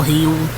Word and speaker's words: Gil: with Lis Hill or har he say his name Gil heel but yeah just ugly